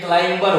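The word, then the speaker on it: climber: जैसे कि आप क्लाइम में ही ER जोड़ दीजिए, CLIMB तक ये क्लाइम है, लेकिन जैसे ही आप इसमें ER जोड़ेंगे ये क्लाइंबर हो जाएगा, फिर से बी जल गया।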